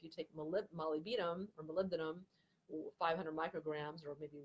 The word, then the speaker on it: molybdenum: with sulfur metabolism but taking molybdenum Mally beat'em is another way to pronounce it phonetically that that can be